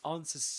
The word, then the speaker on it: answers: So, he says it answers to me. That's what he says. Which means that um well first of all in terms of sounds that the W is silent.